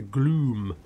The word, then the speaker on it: Gloom: So the Gloom Horse Lord, not the Glue Horse Lords, the Gloom. Don't pronounce my M's enough. Gloom.